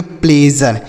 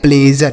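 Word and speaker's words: pleasure: तो इसे पढ़ेंगे प्लेजर। क्या पढ़ेंगे मेरे भाई? प्लेजर।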